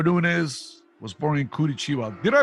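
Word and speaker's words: Curitiba: so they were doing is was born in kurichiwa did I pronounce that right guys yeah perfect perfect he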